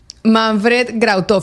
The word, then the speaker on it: Manfred Grautov: Claro, el apellido es de ascendencia alemana, Askenazi. Manfred Grautov.